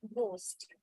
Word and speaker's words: ghost: and in g h also H is silent when it is like in the word ghost okay so these are